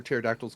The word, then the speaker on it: pterodactyl: Fun fact, you can't hear pterodactyls go to the bathroom because the P is silent.